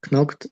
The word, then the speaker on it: knocked: The person who had knocked on the door had disappeared. Knocked. Yes, K No. isn't pronounced.